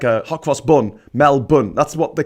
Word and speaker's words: Melbourne: because it's like saying Edenberg um no it's pronounced Melbourne as in aor like a hwos bun Mel bun that's what they call it there in the